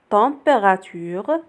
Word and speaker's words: température: ambulance température ambulance. température s'écrit avec EM ولكن كتنطق on.